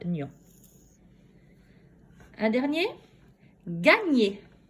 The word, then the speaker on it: gagner: Gagner. Gagner. Fais pause. Alors, dans gagner, combien de syllabes? Gagner. 2 syllabes. Dans quelle syllabe j'entends le son gne? Gagner. Oui, j'entends le son gne dans la 2e syllabe.